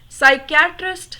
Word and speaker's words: psychiatrist: Fourth one, psychiatrist Sam was gone. Psychiatrist, first letter is P. but P is silent.